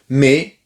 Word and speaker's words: mais: Mais, et oui, mais, non mais, mais, parce que le S final ne se prononce pas et AI c'est E. Donc, mais, l'amour aussi.